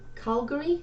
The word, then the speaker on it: Calgary: I grew up in Karl Calgary is how you say it and my kids in